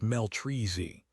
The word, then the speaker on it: Meltries: TL note: Meltries is pronounced Meltreezy. The Z is like the Z from Zen.